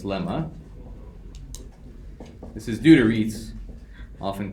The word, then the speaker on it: Riesz: Riesz. Rise, no. No, although, yeah. I guess it could. Like rise the right way though? I thought it was race. But it's EI.